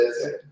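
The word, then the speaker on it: ch'ixi: Se escribe Chixi. Entiendo que se pronuncia Cheche.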